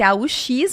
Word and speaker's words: aux: eu vou usar esse AUX, mas a pronúncia é O também. Os États-Unis, porque junta com a vocal seguinte.